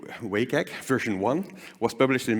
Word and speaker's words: WCAG: web content accessibility guidelines wcag or wake egg as the in crowds pronounce pronounce it the way wake egg version one was published